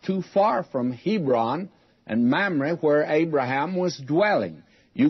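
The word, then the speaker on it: Mamre: miss to mispronounce it mamrie is how you say it mamrie i think i was saying mom ray i don't even remember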